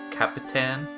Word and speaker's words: Capitan: my way back here to Capitan or however you pronounce it it's Capitan but anyways uh before I